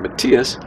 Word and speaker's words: Matthias: hip, he said, "Matthias," this is how I pronounce my name, "Matthias, if you want to be a good doctor, you have to be a good researcher."